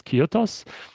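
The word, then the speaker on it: kyathos: ki uh that's what you that's how you pronounce this. Kyotos and then you will use that to come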